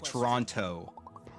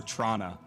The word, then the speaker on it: Toronto: pronounce Toronto because like if you're from Toronto or from near from near Toronto you know you don't pronounce the second T I know but a lot of people in media will be like Toronto if you're really from the area you'll hear Trana right like where are